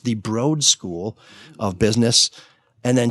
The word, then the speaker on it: Broad: what only MSU alums would know is actually pronounced the broad School of Business and then she says best